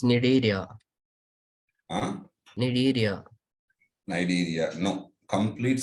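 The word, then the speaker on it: Cnidaria: And you are saying that I can't spell it. How it is possible? You are a BPC Sir, student. it's Nidaria.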